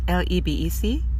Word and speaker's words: Lebec: like I said I'm done for the day I started in San Francisco right now I'm in libec if that's how you pronounce it or so it's Lebec in K County California